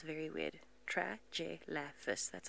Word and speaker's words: Tragelaphus: Tragelaphus. That's how you spell it.